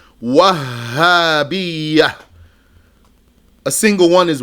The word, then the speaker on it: الوهابية: There's a shadda on the ha. Yani, the way to pronounce it is Wahhabiyyah.